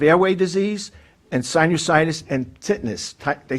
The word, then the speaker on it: tinnitus: It's very hard for me because I suffer from hyperreactive airway disease and sinusitis and tinnitus. They say tinnitus, but it's pronounced tinnitus.